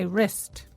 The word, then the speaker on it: wrist: Number 1, there's something wrong with my wrist. And the answer is 2. Wrong and wrist both begin with a silent W.